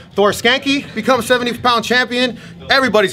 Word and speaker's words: Skancke: ] awesome man th your last name is pronounced it's skank skanky Thor skanky so I